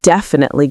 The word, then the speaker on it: definitely: I might tell my friend, "Yeah, it's definitely going to rain." So this means I'm sure of something. So how do we pronounce this? Well, this adverb has the stress on the first syllable.